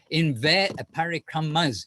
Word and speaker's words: parikrama: parikrams, our Kartik parikrams, parikramas, actually it's a long A at the end of parikrama, we always need an A.